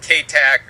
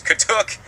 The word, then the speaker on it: katuk: known as the katuk they might mispronounce it here in the South called Kate AG or Kate took or something but it's katuk and it's also known